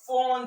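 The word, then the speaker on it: Pfund: The other spectral line is called the Fawn series. Okay, though it starts with P, the P is silent. The Fawn series.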